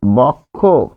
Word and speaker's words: বক্ষ: এখানে যে অ আছে এই অ এর পরিবর্তে কি হবে ও হবে ফলে এখানে হবে বক্ষ বক্ষ তাহলে বক্ষ বানানটা বক্ষ দিয়ে কিন্তু উচ্চারণ বক্ষরে এখানে আমরা পারছি।